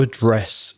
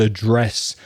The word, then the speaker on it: address: Craig, quite correctly in British English, just used one pronunciation there. But of course, if he was American, for the meaning of location, he would have said address, and he would have changed the stress.